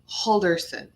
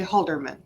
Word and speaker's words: Halderson: life of me I it's Chandler Bing but it's not it's Chandler holderson I'm gonna say Holderman I don't know why